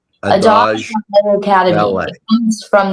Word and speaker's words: Adage: Adage? Adage. Adage Dance Academy.